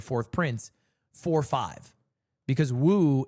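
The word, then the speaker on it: 五: prince four five because Woo is how you say five in uh Chinese in uh Leai's the fourth prince.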